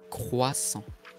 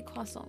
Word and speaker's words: croissant: Can you say croissant? Vas-y. Not like that. Okay. Croissant. I can't say it like that. I can say croissant, which is what we say here.